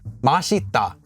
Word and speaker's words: 맛있다: why masita meaning to be delicious is pronounced as mashita however Mata to not be delicious to not taste good is actually pronounced as mopa madta not masop first of all thank